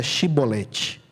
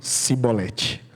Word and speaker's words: chibolete: Então diga chibolete. Aí eles diziam cibolete.